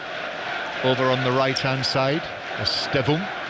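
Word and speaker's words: Estêvão: Pedro Neto playing on the left-hand side with Estevao over on the right-hand side. Estevum, as he called himself on the official pronunciation video, but I think Estevao has become more the accepted way of saying his name.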